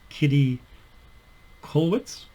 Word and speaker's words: Käthe Kollwitz: forgotten about her so the name she's German so apologies if I'm mispronouncing the name but I think it's Kitty colwitz she was a German